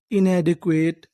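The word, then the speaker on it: inadequate: अगर आपको इंग्लिश की किसी भी मीनिंग में आखिरी में इ लिखा मिले तो हम लोग इ का उच्चारण नहीं करते। हम लोग इ से पहले तक का उच्चारण करते हैं।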